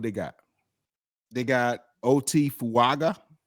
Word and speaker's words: Fuaga: got they got OT fuaga I think that's how you say his name he's a offensive lineman